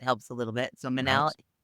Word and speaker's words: Manal: Manell, which rhymes with Chanel. That helps a little bit. So, Minnell.